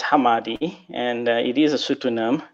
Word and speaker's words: Hamadi: us back all right so Hammadi it's actually pronounced Hammadi and it is a pseudonym for place also